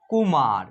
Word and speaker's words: कुमार: इसमें जो है ना छोटी ऊ की मात्रा का प्रयोग हुआ है तो इसका उच्चारण करेंगे कुमार, यानी सिंपल तरीके से करेंगे।